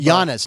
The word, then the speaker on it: Giannis: Tatum and jannis Anum Yannis not Giannis Yannis jannis I said it right and your presence for